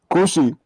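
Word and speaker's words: כושי: Kushi. It almost sounds like pussy with a K.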